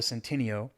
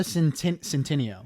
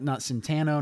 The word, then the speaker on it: Centineo: Noah Centineo. Yeah. Not Centano, not Centino. I mean, Santino. I'm not a pronunciation genius, but from the spelling, I am assuming Okay, it is Centineo.